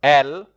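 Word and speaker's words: elles: And then you have they, which is L. Also, the ES is not pronounced.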